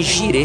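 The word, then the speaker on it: Jireh: Lembrando que Gire se escreve J-I-R-E-H.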